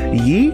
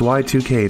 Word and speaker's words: YIIK: we that said y2 oh okay yeah i was confused it's y2k not yeek april 4th 1999 a